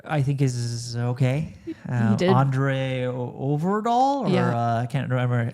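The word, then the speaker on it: André Øvredal: Andre Overdahl.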